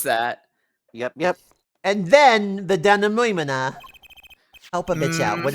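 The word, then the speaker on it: dénouement: That's don't how know you that pronounce that. Yep. And then the denouement.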